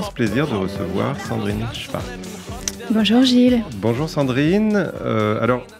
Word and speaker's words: Szwarc: monde écorche ce nom tout le monde bute sur son nom j'ai j'ai des j'ai swarz Schwarz c'est très dur à dire et moi j'essaie de rectifier et c'est c'est Schwarz et vous le prononcez